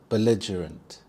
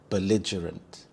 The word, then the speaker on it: belligerent: Belligerent, belligerent. The stress is on the second syllable lidge, belligerent. We also have the schwa sound, the sound, belligerent.